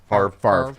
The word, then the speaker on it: Favre: How do you? Favre. Even though the V and the R are the opposite of how you pronounce it.